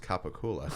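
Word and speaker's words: capicola: All right, so It's pronounced Capicula.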